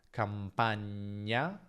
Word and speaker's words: campagna: Attenzione a non confonderla con nie, perché c'è differenza tra campagna, campagna e campania, campania.